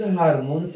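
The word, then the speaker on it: hormones: हार्मोन देखो सभी हम इसको हार्मोन्स बोलते हैं, यदि इसका शुद्ध उच्चारण करें तो हॉर्मोन्स होता है, हॉर्मोन्स।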